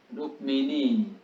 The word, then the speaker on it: রুক্মিণী: রুক্মিণী। রুক্মিণী। রহস্যকার কয় কয় মটা উচ্চারণ করতে হবে।